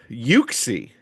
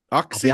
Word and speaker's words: Uxie: I'd like to hear how you were going to pronounce it. Yuxie. Is it Yuxie? Oxy. I'll be honest. Yeah, I think I would have said. I think it's Yuxie though because the Japanese have it spelled Yuxie E.